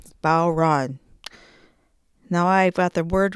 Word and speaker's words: bodhran: Okay, rhymes with cow and then ran. Bau Ran Now I got the word right and we're going to jump into the Remo Fiberskyn.